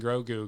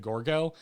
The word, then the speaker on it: Grogu: No, I think we just kept mispronouncing Grogu because we couldn't remember the name, and at one point we said Gorgo, and so every once